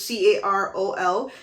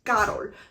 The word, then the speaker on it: Carol: before even though it's spelled correctly because it's c-a-r-o-l you are pronouncing carol but in this you know instance it's not correct it's actually pronounced karo because again the maker's name is carolina so